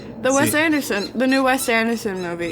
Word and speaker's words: Wes Anderson: So um the West Anderson. You had practice and you still didn't say it right. She said it right. The Phoenician scheme. The Phoenician scheme. She had it right. The Wes Anderson the new Wes Anderson movie.